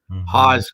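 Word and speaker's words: Hawes: up the road near the Haws graveyard h-a-w-e-s Haws graveyard that name might ring a belly a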